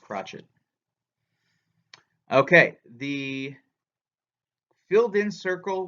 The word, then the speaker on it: crotchet: They don't say, I was tempted to call that the crochet, but I think it's actually pronounced crotchet.